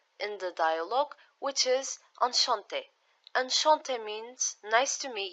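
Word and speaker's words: enchantée: For this lesson, just it's enough to only know that for females, when we write it down, we use two E's. So one with accent aigu and just normal E. Enchanté, enchanté. There is no difference in pronunciation.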